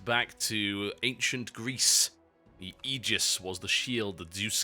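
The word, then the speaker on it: aegis: to ancient Greece the egis was the shield the Zeus carried and of course AE in Greek is pronounced e the a is silent why do you get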